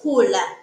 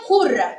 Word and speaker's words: kula: The word is not kura, but the word is kula. When you say kura or kura, that one means to vote. Kura is to vote and kula is to eat.